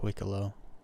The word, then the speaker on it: Wikelo: know how to say they say wicko wo wicko wio I I I I think it's just wicko it's such a weird name